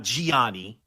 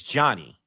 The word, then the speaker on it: Gianni: Not Gianni, is Johnny. Johnny, like it's the same as Johnny Versace.